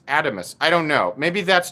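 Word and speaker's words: Adamas: he pronounced it adamus give me a one in the chat if you've pronounced it adamus and a two in the chat if you've pronounced it atomus over the years i have been pronouncing it adamus i think we might have been wrong guys i think all of us ones might have been wrong um apparently this is atomos i don't know maybe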